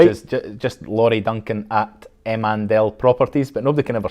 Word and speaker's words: Emandel: Well, I do most stuff by email, really, which is just Laurie Duncan at Emandel Properties, but nobody can ever spell it.